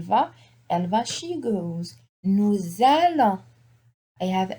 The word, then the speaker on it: nous allons: Nous allons. I have S with a vowel here. Normally the S is not pronounced, but on appelle ça la liaison. We say nous allons.